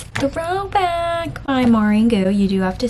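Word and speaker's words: Maureen Goo: It's Throwback by Maureen Gu.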